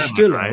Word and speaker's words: Stiller: Stiller, and is it Stiller or Stiller? How should we pronounce him? I mean, in German, it's Stiller, right? So Stiller. But here in the United States, it'd be Jerry Stiller.